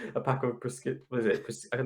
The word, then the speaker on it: prosciutto: Might as well just go but get like a pack of prosciutto.